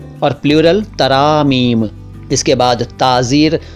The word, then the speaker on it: ताज़ीर: इसके बाद ताज़ीर। दरअसल ये ताज़ीर है, लेकिन ताज़ीर कहिए सिंपली।